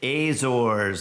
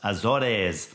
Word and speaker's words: Azores: at Sea we made our way to the azors I've learned now it's pronounced Azores and there was one Island uh San Miguel